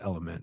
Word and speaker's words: LMNT: taking to Mexico um it's spelled lmnt uh pronounced element but it is an